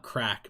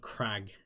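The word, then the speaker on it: craic: Not crack, but crag. It's an Irish term for a good time.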